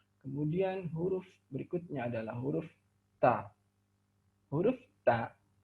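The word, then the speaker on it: ت: Kemudian huruf berikutnya adalah huruf ta. Huruf ta, makhrajnya dengan menyentuhkan ujung lidah kita dengan gusi gigi seri bagian atas.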